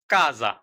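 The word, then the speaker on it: casa: আরেকবার খেয়াল করে দেখুন সি এর সাথে যদি আ অ উ এই তিনটি বর্ণের যেকোন একটি বর্ণ বসে তাহলে উচ্চারণ হবে ক নিচে উদাহরণ খেয়াল করুন কাজা কাজা কল্প কল্প কুলতুরা কুলতুরা আবার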